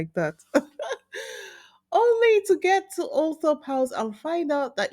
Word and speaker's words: Althorp: But the correct pronunciation, according to the attendants at the home, was Althorp.